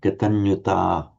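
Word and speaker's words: kataññutā: little bit too far, because for katanyuta it's pronounced as a long a. Santuticha katanyuta.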